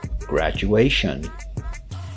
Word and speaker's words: graduation: The next word is graduation. And here we're going to follow the same pattern that we did with education, right?